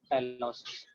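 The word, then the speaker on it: tylosis: हम लोग कहते हैं टाइलोसिस। इसको प्रोनाउंस करेंगे हम लोग टाइलोसिस, फाइन।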